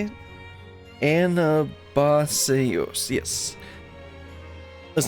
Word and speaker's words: Anabaseios: Anabaseios, yes.